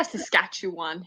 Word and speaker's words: Saskatchewan: And tell me, how can I pronounce Saskatchewan? It's okay? Saskatchewan. Yeah, Saskatchewan.